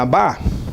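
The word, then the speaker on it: אב: direita para a esquerda, o Aleph e o Beit pronuncia-se Ab, que significa pai.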